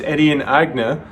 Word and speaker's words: Etienne Aigner: his name for example his name is edian agna edion being french agna being german but since he moved